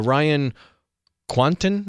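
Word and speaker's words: Ryan Kwanten: pretty good actor uh ryan quanton is how you say his name he was on true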